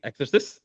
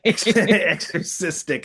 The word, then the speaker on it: Exorcistic: of the new well Broadway off Broadway play exorcist or exorcist. Um I think I pronounced that right. Exorcistic.